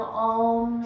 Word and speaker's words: om: When you om, you typically kind of just think of OM in this English language, but it is 3 syllables when we're using om. It is A-U-M, and so I want you to concentrate on focusing on stretching each syllable.